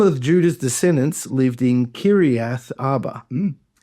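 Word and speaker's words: Kiriath Arba: You separate the I and the A next to each other. Kir Kiri. So, Kiri Kirath Arba. Yep. Kirath Arba. Perfect. Uh, some of Judah's descendants lived in Kirath Arba and Dibon and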